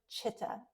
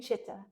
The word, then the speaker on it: chitta: And I'm going to come back to this word chitta, C-I-T-T-A. Sometimes if we're going to spell it in English language, C-H-I-T-T-A.